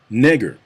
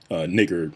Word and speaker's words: Niger: at the screen and wondering why I'm not pronouncing that Niger. That's because back in the day, it wasn't called Niger. That's a relatively modern pronunciation of it. It was actually called nigger.